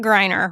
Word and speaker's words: Greiner: You pronounce it Greiner, right? That's right. Okay, Greiner, yeah.